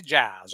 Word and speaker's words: Giles: called me over, and his name was Bobby Giles, and that's how he pronounced his name, Bobby Giles.